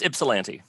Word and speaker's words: Ypsilanti: Did I pronounce your city correctly? Yes, Ypsilanti.